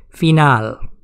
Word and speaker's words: final: word the pronunciation is final i is pronounced as e and a is pronounced as a phenol it means end